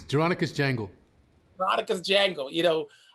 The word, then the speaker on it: Jeronicus: Taking me back to your character, let's see if I'm saying it right, Jeronicus? It's Jeronicus Jangle.